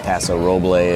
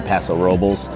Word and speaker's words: Paso Robles: If you say it in the Spanish way, it's Paso Roble. If you say it kind of how a lot of the locals say it, they say Paso Robles.